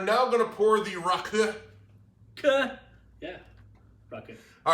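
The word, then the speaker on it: rakı: What do you mean not Raki? It's Raki. Yeah, but you want to say the correct name? It's Raku.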